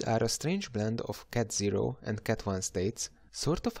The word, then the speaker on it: ket: We pronounce these symbols as cat0 and cat1.